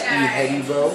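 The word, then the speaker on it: Ihedigbo: My name is James E. Hybo. I play for the New York Jets. That's how you pronounce my last name.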